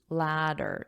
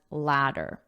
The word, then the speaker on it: latter: You climb a ladder and this is pronounced as ladder because the TS are between 2 vowels, so we pronounce them as a soft D ladder.